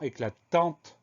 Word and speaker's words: éclatant: La seule vraie difficulté, elle est double. Le son en qui s'écrit AN et la lettre muette T à la fin.